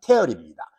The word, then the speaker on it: tear: 이 발음 주의하세요. tear이 아닙니다. tear이 눈물은 tear이지만 찢다라는 동사일 때는 tear입니다.